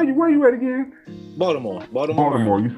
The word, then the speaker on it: Baltimore: here Marland from from Baltimore Baltimore we say Baltimore they say Baltimore oh okay we say a d we pronounce it with a D I appreciate it so